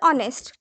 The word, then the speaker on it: honest: अगर आपको pronunciation में सपो बहुत सारे जैसे कि I will give you a on example. honest.